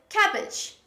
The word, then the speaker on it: cabbage: pronounce carrot carrot or cabbage cabbage we don't say cabbage there is only one bee when we pronounce it's cabbage cabbage there is butterfly sound after ke ah cabbage other examples